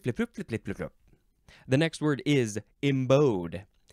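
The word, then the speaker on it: embowed: the next word is embode e m b o w e d it's like a bow and arrow this is an adjective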